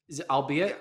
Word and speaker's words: albeit: fourth time yeah yeah I'll be at Wendy albeit or I'll bite how do you say that word albeit no